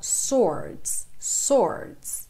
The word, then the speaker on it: sword: sydney chams dormir sword atenção a pronúncia desta palavra porque a gente não tem esse som do w subordinam a gente fala sore sore ok indício que launcher